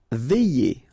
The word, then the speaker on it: veiller: Veiller. Okay, remember when you get this I, double L, and then here it's E, y.